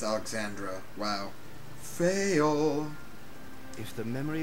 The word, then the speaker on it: Alexandra: Oh, I've been pronouncing it Alexandria, and it's Alexandra.